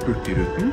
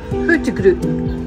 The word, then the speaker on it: Hurtigruten: like how to pronounce Hurtigruten. How do you say it properly? In southern Norway, we say Hurtigruten. Hurtigruten. Hurtigruten. Okay, I got it. In northern Norway, they say Hurtigruta.